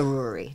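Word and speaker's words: Ruaraidh: But she figured, oh, there's no way the Yanks will pronounce that properly. I dated a Ruary.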